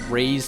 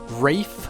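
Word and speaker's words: Raigh: I have seen people talking about how, like, I pronounce Luff's name Luff, and I pronounce Ray's name as Ray, despite the fact that if I were to be consistent, it would be Rafe.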